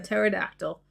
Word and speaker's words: pterodactyl: Why can't you hear a pterodactyl? Go to the bathroom. The P is silent.